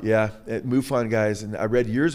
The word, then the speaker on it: MUFON: know, that were, you know, with was it MUFON, MUFON? I'm not sure how you pronounce that. Yes, you got it, MUFON. Yeah, MUFON guys.